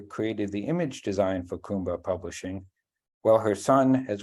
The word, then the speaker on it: Kumba: is also the founder of Kumba Publishing. Am I pronouncing that right?